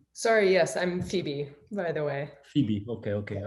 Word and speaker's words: Phoebe: Syria, there was, but in Italy, Phoebe is Febe. Oh, was it? Maybe. Yeah. Yes. And so since my wife is Czech, in Czech Republic, they pronounce it right, Phoebe. And Ah. I always told her, it's not Phoebe, it's Phoebe. They are different. Because Chandler is Chandler, all the other are right.